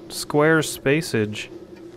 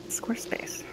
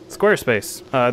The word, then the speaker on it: Squarespace: When do we get so much square spacage? Square spacage. I didn't know how to say it. Squarespace. Squarespace. This is sponsored by Squarespace.